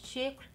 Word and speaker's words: Chypre: And the topic of today is Chypre. Thank you Dana from A Nose for helping me to pronounce it better, because it's a very difficult